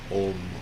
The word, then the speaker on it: Om: For sound and vibration today, I'd like you just to bring your attention and your effort to an Om. Om. O-H-M. Om. Or Om. A-U-H-M. Om.